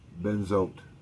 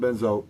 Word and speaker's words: benzoate: This additive is called sodium benzoate, or benzoate. It's spelled B-E-N-Z-O-A-T-E.